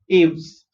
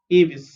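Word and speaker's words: Aves: to avis okay so the first time i pronounced is this word uh i pronounced it as ames right abes aos but it's not ames it's translucent okay avis so avis are mainly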